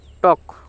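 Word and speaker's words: talk: কেন টি এর জন্য ট আর এতে অ তাহলে ট অ ট অ আর এল কেতে ক কারণ এল এক্ষেত্রে সাইলেন্ট কারণ এর পরে এল থাকলে সেটি সাইলেন্ট থাকে তাহলে টক টক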